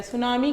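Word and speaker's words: tsunami: है रिकॉर्ड करता है सुनामी क्या होती है टी साइलेंट होता है यहां लॉन्ग हाई ओशियन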